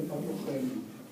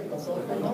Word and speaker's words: patógeno: que el ciclo del patogeno patogeno se dice patógeno patógeno Okay acá tenemos